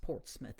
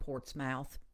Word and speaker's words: Portsmouth: It's spelled Portsmouth, but it's pronounced Portsmouth in this area. Please don't call it Portsmouth.